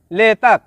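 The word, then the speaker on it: letak: শব্দটি লেখার ক্ষেত্রে লিখতে হয় লেতাক, তবে এর সঠিক উচ্চারণ হবে লেতা।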